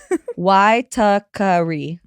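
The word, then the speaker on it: Waitākere: Oh, pronounced God, I love you already. Wakari.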